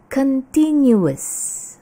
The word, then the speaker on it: continuous: Seringki kata ini diucapkan continuous. Padahal kalau continuous itu adalah continue lalu ditambahkan s di belakangnya. Itu memang betul bacanya continuous. Tapi kalau yang ini bacanya adalah continuous.